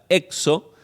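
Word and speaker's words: ἔξω: Y luego hay otra palabra que se pronuncia exo, que significa afuera.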